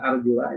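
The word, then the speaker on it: أرجلَ: Ini ada arjula ini. Nah, pada kata arjula, nah ini kan dibacanya arjula. Kalau dibaca arjula berarti mengikutnya kepada wujuha.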